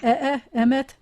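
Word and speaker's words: אֱמֶת: So whenever you have a segolate, the first syllable is always the accented syllable.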